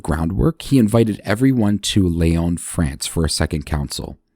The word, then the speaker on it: Lyon: As I mentioned in the last episode, sometimes you'll see Leyon spelled and pronounced lions, L Y O Ns, but I'm using the French pronunciation.